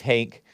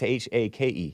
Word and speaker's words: Hake: either, but some people think it's Hank, and if they search for the Hank report, they're not going to find me because it's H-A-K-E. Hake. Yeah. H-A-K-E. Yeah. That's how I pronounce I like it. Hank too, though. No, I never say Hank. Okay. It might sound like it, but it's Hake.